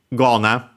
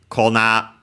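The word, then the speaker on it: 粉: uh new moves uh Kona becomes voiced here because it's the second word part of a compound and uh of strictly Japanese origin that more often than not happens to Uh yeah, as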